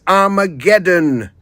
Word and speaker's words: Armageddon: so there you go it's not aedon it's Armageddon that is how to say it right no Raymond is not